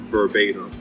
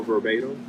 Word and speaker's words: verbatim: literal, it's the same as almost saying first verbatim. Not as an adverb, but if I say he is literal, right, it means by those exact words. Do you know verbatim? Again? Do you know what verbatim means?